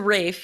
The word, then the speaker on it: Ralph: uh twillston wickham fines is it not ray fines it's a rafe yeah yeah i would